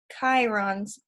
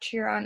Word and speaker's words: Chiron: I did not trust Chiron's back end the way I trusted his friend remember I said I pronounced it wrong before this is not cheer on it's Chiron so I'm gonna say